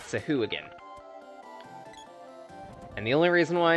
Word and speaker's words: Sahuagin: And water thugs, also known as Sahuagins. Yeah, that's actually the pronunciation of it, Sahuagin.